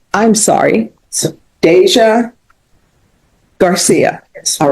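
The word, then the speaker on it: Dasia: Well, I mean, how do you pronounce your name? Deja. All right. I'm going to go with Deja, but I'm telling you all right now, I'm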